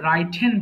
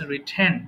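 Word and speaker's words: written: এটা অনেকে ভুল করে রাইটেন বলে। হ্যাঁ, রাইটেন কিন্তু রং pronunciation. So it should be just রিটেন, নট রাইটেন।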